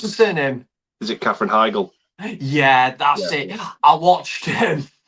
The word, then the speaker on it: Heigl: Oh, Catherine Heigl. How do you pronounce her surname? Is it Catherine Heigl?